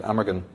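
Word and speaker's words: Amergin: the precuser to merlin was called aver gehen or in english you pronounce it amagan and he says who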